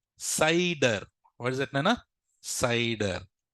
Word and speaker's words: CIDR: Some people call it as CEDAR. Some people also call it as CIDR. CIDR. There's, however they want to pronounce, they can pronounce this. But remember, for my students, I pronounce it as CIDR. It is a professional way of doing it. So don't call it a CEDAR.